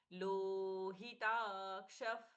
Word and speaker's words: लोहिताक्ष: प्रच्छवास इसलिए शाश्वतः कृष्णो लोहिताक्ष हिताक्ष ही रस्व ताक्ष ताद दीर्घ कम में आघात क्षू क्ष में छ का उच्चारण नहीं होगा मूर्धन्य श होगा क के साथ में श लोहिदाक्ष प्रतर धनः द